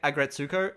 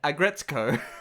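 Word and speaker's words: Aggretsuko: it's just a gretzko I've been saying it wrong the entire time I kept calling it agrezuko and calling her retsuko but it's retsuko and aggretsko yeah what the [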